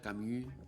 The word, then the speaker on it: Camus: Estamos hablando de Jean Paul Sartre y Albert Camu, así se dice, se escribe Camus.